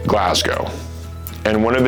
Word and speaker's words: Glasgow: It's not Glasgow, it's Glasgow.